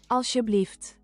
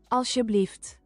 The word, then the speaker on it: Alsjeblieft: Alsjeblieft. Alsjeblieft. Ow. Is it bad if I have to tell myself the word Auschwitz to remember how to pronounce the first part?